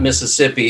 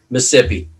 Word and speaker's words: Mississippi: but pascagoula mississippi yeah and i recognize it's not mississippi it's mississippi it's only like three syllables that's it this is it that's